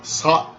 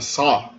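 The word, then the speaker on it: ص: Esse é o Sa. Sa é um S pronunciado com um pouco de fricção na garganta. Sa.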